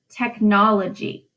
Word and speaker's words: technology: technology for syllables now only one of those syllables has a stress listen see if you can figure it out technology do you hear it tech nology it's the second syllable in that word that gets the stress now according to the